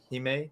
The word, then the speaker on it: Xime: Heime.